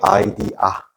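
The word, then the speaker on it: idea: 자, 미순들 이렇게 발음 아이디아. 아이디어 아니에요.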